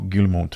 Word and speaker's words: Guillemot: Guillemot family. Yeah, it's French. Right? Yeah, it's French. I'm almost mad at myself. I said it right.